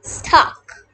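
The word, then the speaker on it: stalk: l is silent a l is a silent letter in the previous video i told you about silent letters and l is silent s-t-a-l-k stuck now let's know what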